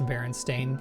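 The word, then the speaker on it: Berenstain: Remember getting in an argument in elementary school over how to pronounce Baron Stain because the other students said Stein, but it was spelled Stain.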